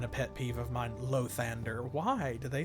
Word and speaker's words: Lathander: It's either Lathander or Lathander, with the accent like on the first or second syllable. But it's not Lathander anywhere.